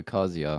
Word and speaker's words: Kazuya: Yeah, there you go, Kazuya.